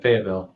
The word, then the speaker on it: Fayetteville: Love that you're continuing to bring it to some of the students out there in Fayetteville, or not Fayetteville, or how you pronounce it. You got it, Fayetteville.